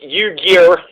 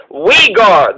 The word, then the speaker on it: Uyghur: this weed guard genocide it's spelled u y g h u r so it looks like u gear u geared genocide but it's wegar the wigar people are